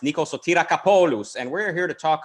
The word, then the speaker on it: Nikos Kapoulos: A man who, legend has it, is name pronounced Nikos Kapoulos, and we're here to talk about the social media political complex, if there is one or if there will be one.